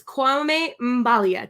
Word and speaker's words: Kwame Mbalia: i'm just gonna bring him right in it's kwame mbalia did i say it right you got it